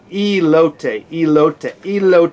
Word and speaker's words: elote: It's elote with an E.